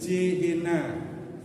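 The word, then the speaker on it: Gehenna: dalam bahasa Yunani jadinya ge Hena dalam bahasa Latin gehena jadi jehena tulisannya sama bacanya beda diambil sama orang Arab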